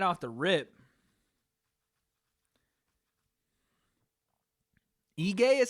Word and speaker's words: Ige: Ige is how you say Dan's last name? Jesus, dude. I'm going to drink because I completely butchered his last name. I thought it was Ige.